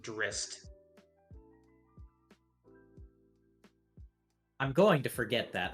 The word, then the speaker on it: Drizzt: So it's actually supposed to be pronounced Drist.